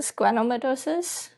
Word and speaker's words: schwannomatosis: Did you find enough resources to study about the schwannomatosis? I think I pronounced it correctly.